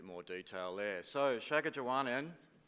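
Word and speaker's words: Shaakichiuwaanaan: detail there there so Shaga Jaan in it's a silent k it's a g and it's long and of course people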